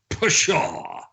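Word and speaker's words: פשע: Like the abominations, and this is the word Pei Shin Ayin, the word we talked about last week that's pronounced Pashah.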